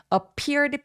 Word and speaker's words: appeared: appeared 강세 이음절에 오기 때문에 appeared p 입술 터져 나오는 느낌으로 또렷하게 소리 내 주세요.